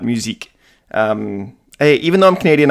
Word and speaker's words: Musique: I pronounced it Mystique and not musique.